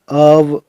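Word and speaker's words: of: अब ओ एफ का उच्चारण अव होता है।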